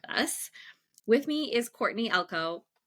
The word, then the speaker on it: Elko: With me is Courtney Elko. Correct me if I'm saying your last name wrong already.